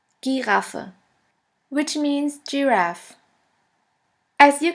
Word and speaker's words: Giraffe: the German word is Giraffe. Giraffe, which means giraffe. As you can see, the word Giraffe is written exactly the same way as in English, but the pronunciation is completely different.